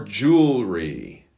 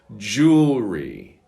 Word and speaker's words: jewelry: Number 44, jewelry. If you'd like to pronounce this one correctly, it's probably best not to look at the spelling because it's very confusing. One more time, jewelry.